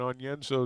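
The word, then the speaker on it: Onyenso: some other pronunciation but sometimes you pronounce it just like it's spelled and on yenzo is one of those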